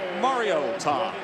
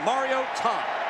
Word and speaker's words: Mariota: So Marcus Mario Tom and that is how you pronounce the name because mom called from Hawaii Matt and said listen up folks it's Mario Tom. Put a hyphen between that Mario and Tom.